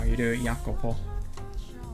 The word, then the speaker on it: Jacopo: So it looks like um the J is a Y. This is an Italian name apparently. So I'm just going to pronounce it like this. So, Yakopo because apparently that's kind of how you do it.